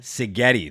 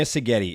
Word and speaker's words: Szigeti: said that correct STI sigeti the Z is silent so pardon the butcher there Dr sigeti is a holistic functional